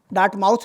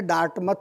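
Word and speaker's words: Dartmouth: 1950 में पहली बार अमेरिका में एक सम्मेलन हुआ था जिसको बोलते हैं डार्टमथ सम्मेलन। डार्ट माउथ भी बोलते हैं कुछ लोग लेकिन सही उच्चारण है डार्टमथ सम्मेलन।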